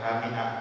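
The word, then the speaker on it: حمئة: Ini cara bacanya dari Muawiyah, membacanya dengan hamiah, bukan hamiyah. Hamiah ya, bukan hamiyah. Hamiah artinya lumpur hitam, sedangkan hamiyah bagi yang panas air ini. Ini cara bacanya kan banyak. Bagaimana pembacaanmu? Nah, saya baca seperti bacaanmu. Jadi ada dua versi, ada hamiah, ada hamiyah.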